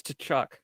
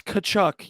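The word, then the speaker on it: Tkachuk: say his name correctly it's tchuck it's not it's kachuck you don't say the te anyways Matthew t St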